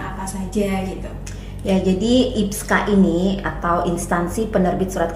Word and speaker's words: IPSKA: Atau gimana Mbak bacanya ini yang benar? Kita biasanya bilangnya IPSKA.